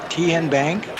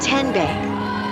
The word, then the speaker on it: TN Bank: How do you say the name TN Bank? Nope. Tin Bank. Uh-uh. So, what is it? Ten Bank. 10 as in Tennessee.